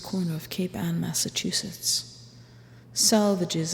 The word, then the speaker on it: Salvages: of Cape Anne Massachusetts salvages is pronounced to rhyme with the swages groaner a whistling buoy